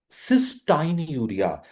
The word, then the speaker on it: cystinuria: So in cystinuria, तो इसको थोड़ा प्रोनाउंसिएशन भी हम चेंज करते हैं, cystinuria.